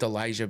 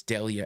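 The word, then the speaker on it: Delija: I keep saying Elijah because of the J, but it's Delia.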